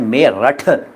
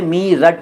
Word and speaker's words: मेरठ: मिसाल के तौर पर मेरठ शहर है यूपी में मेरठ अब देखिए उच्चारण क्या है मेरठ था लेकिन लेते हैं मीरट एनडब्ल्यूआर ड्यूटी रहते अंग्रेजों